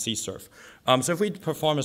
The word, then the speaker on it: CSRF: xsrf or a CSRF but typically it's pronounced c surf so if we perform